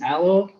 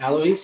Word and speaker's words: Alois: appreciate it um so my name is aloe um alois actually but usually i go by the name of aloe because that's just easy to pronounce i'm a full-stack developer